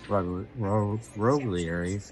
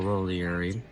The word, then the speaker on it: Roglieri: So, all in all, an incredible uh ending to Chris Roieri or Roiieri, however you pronounce it. She pronounced it both ways in quote today. So, I don't feel bad. She said Rogly and Roiieri.